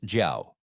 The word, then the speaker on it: 叫: Pronounced jiao.